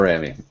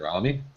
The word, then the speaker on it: Rami: Let's learn about Rami. All right. Mr. I guess the biggest thing is the pronunciation actually rhymes with the last two syllables of pastrami.